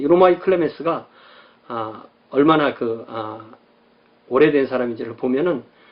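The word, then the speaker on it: Clemens: 클레멘트는 영어식이고 클레멘스가 원어에 가깝습니다.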